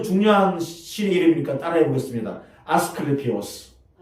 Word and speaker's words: 아스클레피오스: 아스클레피오스. 발음하기 힘들죠?